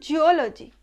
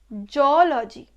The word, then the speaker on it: zoology: But it's not geology, it's zoology, zoology, zoology.